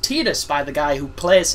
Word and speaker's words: Tidus: And Tidus is pronounced Tidus by the guy who plays him, which always